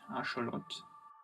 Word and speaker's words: axolotl: forthcoming like day album called axolotl or properly pronounced our short it's crazy for me